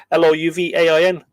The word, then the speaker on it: Louvain: Michael O'Clery, the chief of the Four Masters, printed and published at Louvain. How do you pronounce that? It's French. Louvain. Louvain.